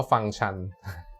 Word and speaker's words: ฟังก์ชัน: นะ ฮะ อัน นี้ เวลา สะกด ฟังก์ชัน เนี่ย สังเกต นิด นึง นะ for ไม่ อากาศ งู กอ ไก่ คัน นะ ฮะ แล้ว ก็ โทร ทาง ไม่ เห็น อากาศ น้อง หนู นะ อ่าน ว่า ฟัง ชัน และ ฟัง ฉัน คือ